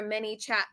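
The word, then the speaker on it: ManyChat: I don't even know what Minichat is, which by the way, it's spelled M A N Y C H A T, and it took me the longest time to even figure that out.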